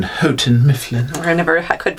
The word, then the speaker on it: Houghton Mifflin: for them or uh hunting mifflin until recently i'm sorry i believe you mean houghton mifflin i never i could